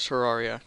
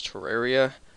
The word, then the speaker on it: Terraria: Welcome to Terraria. Now, one thing I want to point out before the series even starts. Yes, I'm aware that the correct pronunciation is Terraria. However, I pronounce it Terraria.